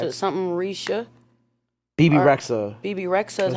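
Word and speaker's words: Bebe Rexha: BB Rexa is how you BB pronounce it.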